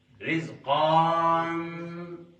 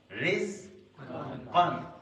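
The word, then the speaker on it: رزقًا: نے کہا اس الف here this alif is silent. You're going to read قاف دو زبر قن. It's not قان، no. رز قن، رز قن، رز قن، and it's قاف not قاف.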